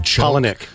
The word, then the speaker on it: Palahniuk: I don't know how to pronounce his last name. Palahniuk.